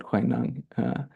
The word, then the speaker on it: Huineng: of Sensei Kathy, because it's spelled in a way where we want to say Huineng, which is often how we say it. And she gave a whole lecture once on, not a whole lecture, but she started her lecture because she studied Chinese on encouraging us to pronounce it Huineng.